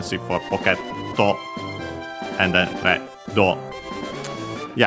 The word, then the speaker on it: レッド: And then, of course, we have Reddo. Red from English. Only differences are the doubling of the consonant and the additional O, because the D can stay on its own.